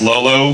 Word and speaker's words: l0l0: just to be clear it's pronounced lolo but it's actually l0l0 because it's really difficult